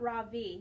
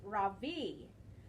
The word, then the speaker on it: Ravi: stands up really straight my name is not raw v he said it's pronounced ravi i'm not going to